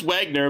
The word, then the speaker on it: Wagner: Yeah, his last name is hard to I don't know how to spell it or say. It is Wagner, but when he does text me and it comes through my car, it says Wiener.